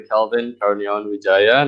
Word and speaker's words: Calvin Karuniawan Widjaja: So So just to help Ben a little bit, my name is actually Calvin Karuniawan Widjaja.